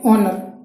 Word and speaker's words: HONOUR: Vowel होते हैं ना, वॉवेल जैसे इंग्लिश में भी आपने देखा होगा कि जैसे हम ऑनर लिखते हैं, ऑनर इसकी स्पेलिंग होती है HONOUR, ठीक है, लेकिन एक्चुअली में ये प्रोनाउंसिएट कैसे होता है?